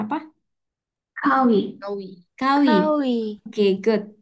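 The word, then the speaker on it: 가위: Kawi. Kawi. Kawi. Kawi. Oke, good. Ada yang tahu ya Kawi Bapak Ibu? Oke, I. nah di sini benar ngomong gawinya bukan gawi tapi kawi.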